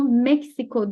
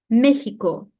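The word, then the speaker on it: México: Şu mesela yer isimlerinden bunu meksiko diye okumuyorum meiko meiko diye okuyorum ya da bunu o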